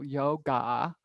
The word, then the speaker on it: yoga: babaji you drop the it's not yoga it's yog there's a short a at the end it's not a long a it doesn't have a long a like asana doesn't have a long a at the end it's awesome and there's a little at the end but you kind of don't hear it very much if that makes